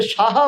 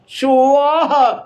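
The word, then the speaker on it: স্বাহা: ওটাকে সাহা বলবেন না, সুয়াহা, স ও আহা, সুয়াহা স্বাধা নমস্তুতে, এইভাবে উচ্চারণ করবেন।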